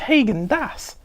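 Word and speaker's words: Häagen-Dazs: That's not how you pronounce it. It's Hagen Das.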